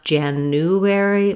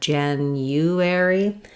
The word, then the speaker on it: January: In January, there is a hidden Y sound before the U, so not January, but January. And so that's one of the errors that we often hear, is that people will leave off this Y sound.